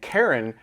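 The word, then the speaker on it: Charon: Sharon is incorrect and Karen is correct.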